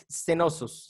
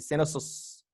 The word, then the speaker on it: Cnosos: palacio de Cenosos, se pronuncia así, Cenosos, así se pronuncia, ¿vale?